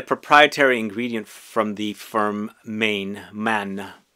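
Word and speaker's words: Mane: And it's a proprietary ingredient from the firm Man. Is that how you say it? Main? It's spelled Main, but it's Man, I believe, and that's how they pronounce it.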